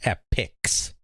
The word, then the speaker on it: Epyx: separate companies completely unrelated they just have a name that pronounces pretty much the same but it's spelled very differently right and one's kind of singular and one's kind of plural epic versus epics exactly where did this company